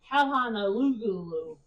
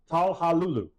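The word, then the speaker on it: Çalhanoğlu: Mr. Garvey would say Hakan Talhanalulu, which is kind of how it's spelled, but it is Talhalulu.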